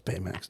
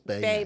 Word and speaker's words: Baymax: It's Baymax, not Baymax. Sorry, there's so many syllables in it. Baymax, right? 2 syllables. Baymax.